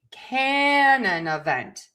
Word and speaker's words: canon event: And so we are going to stress syllable number one can. And we are going to stress syllable number four vent. So it's going to be canon event. Canon event.